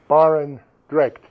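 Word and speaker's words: Barendregt: I was wondering if you could tell me how to pronounce the word Barengret? Oh, okay. Yes. Hank Barendrecht.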